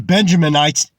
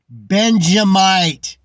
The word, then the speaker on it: Benjamite: These Benjaminites. He's a teacher and he doesn't even know how to say the fucking main tribe's name? Benjamite.